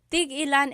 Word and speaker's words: tig-ilan: So tig-ilan, when there's a hyphen in it, you have to have that glottal stop. Tig-ilan. That means how many of each. When there's no hyphen, tigilan, tigilan.